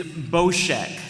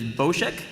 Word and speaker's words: Boshek: in the Obscure uh character Face Off is boshek so that's the official pronunciation is boshek uh number of dialogue lines in the script